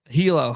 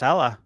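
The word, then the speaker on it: Hela: Wasn't thinking much about Hilo, however you pronounce it, the mouse game. It's pronounced Hella.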